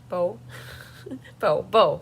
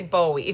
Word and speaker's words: Bowe: Sheila Roberts, Cheryl Bowe, Bo. I want to say Bowie, but it's Bo.